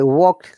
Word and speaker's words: walked: Remember, WA sound is O, whereas WO sound is WA. It is always the other way around, most conflicting part of the IPA of phonetics. Yeah, I walked, like Johanna has given a good example. I walked to work through the park.